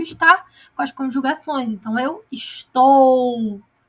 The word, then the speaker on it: estou: ela tem vida própria a gente fala estoi não é estou E essas fonéticas de